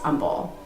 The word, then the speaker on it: Humble: side of 45 and it is spelled with the h but it is pronounced humble next one is y'all